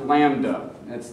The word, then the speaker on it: lambda: And I believe it's pronounced lambda.